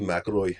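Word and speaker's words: McIlroy: Actually, if you think about that, you say it correctly with the accent. Aaroy Maroy.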